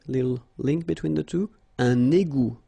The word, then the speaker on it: égout: Un égout. Final T, not pronounced. Un égout.